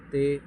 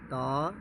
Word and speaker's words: ت: لہجے میں ادا کریں، اردو تلفظ سے پرہیز کریں، یعنی بے، تے، سے، خے، خے، توئیں، زوئیں وغیرہ ہرگز نہ پڑھیں، بلکہ با، تا، سا، شا، خا، قا، ظا پڑھیں۔ یہ اردو طریقہ ہے،